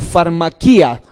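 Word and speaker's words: φαρμακεία: una palabra que es farmaqueía y que se pronuncia o se le farmaquía Y esa palabra farmaquía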